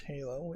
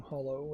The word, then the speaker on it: Halo: on Linux SteamOS, which Halo is, yeah. That is a embarrassing thing to mispronounce, certainly. I guess maybe I was thinking Hollow as in like Hollow Night Live?